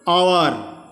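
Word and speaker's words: hour: यहाँ पर शब्दों का उच्चारण में एच, ये जो सामने एच है वो साइलेंट है। देखिए जैसे कि आवर, एयर, ऑनेस्ट, एच से प्रारंभ हुआ है लेकिन एच हमको पढ़ नहीं रहे हैं, उच्चारण हमारा एच गायब हो जा रहा है, साइलेंट हो गया है।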